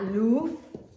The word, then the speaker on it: luz: La luz. Remember this Z is a TH.